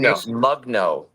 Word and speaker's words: Mugno: I've been Mugno. Mugno. Just the way it's written.